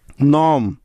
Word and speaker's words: gnome: নম, GNOME, নম। Align, ALIGN, align. প্রতিটি উদাহরণে এন এর আগে জি আছে, তাই এখানে জিটা সাইলেন্ট আছে।